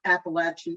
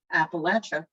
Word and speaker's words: Appalachia: tales from the trail they're interested in how local mountain folks pronounce appalachia not being a native i leave it to the gent who helps them out with a tip i'll throw an apple at you which brings two big